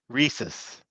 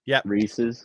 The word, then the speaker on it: Reese's: Go ahead, How do you pronounce that? Both say it out loud. Reese's. Reese's.